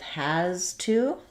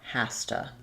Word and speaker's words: has to: Same thing with has to. It becomes more has to.